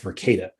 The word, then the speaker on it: Verkada: And another thing that's been in the news recently is the, I think it's pronounced Verkada, the Verkada hack.